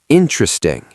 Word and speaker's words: interesting: Not interesting, interesting. 3 syllables.